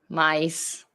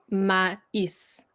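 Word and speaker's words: maïs: Mice. Close. So you have to say the mais. So it's almost, so it's two, it becomes almost its own syllable because you're trying to break up the vowels.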